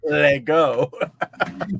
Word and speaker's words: LEGO: a radio read had the pronunciation for Lego l a y g o Lego that's how you pronounce it that's how they wanted